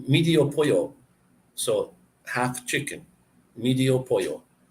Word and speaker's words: pollo: When you get two L's in a word, it's like a Y. So pollo.